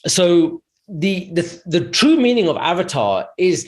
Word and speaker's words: avatar: We are all avatars. This, to say it properly, is avatar, right? Not avatar, right?